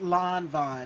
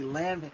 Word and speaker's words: Lanvin: She said, no, no, no, no, no, no, baby, it's Lon Von, and I would say Lanvin.